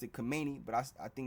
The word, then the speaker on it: Khamenei: It says Iran Supreme Leader Ayatollah Ali, I always pronounced it Khamenei, but I think it's pronounced Khamenei.